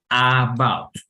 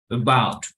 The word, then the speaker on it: about: Entonces, no voy a decir about. About, nadie lo pronuncia así. Es como una E, es un sonido más, podríamos decir, disimulado. Entonces, vamos a decir algo como about.